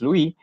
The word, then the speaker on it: Lewis: looking at the electron dot structures or the Lewis structures sometimes you know so it's written as Levites but pronounced as Louie so these are the Lewis structure that you